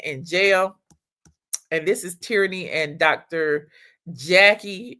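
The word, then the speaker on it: Terrine: Her name is uh it's pronounced Tyranny, but it's T E R R I N E, but her name is Tyranny.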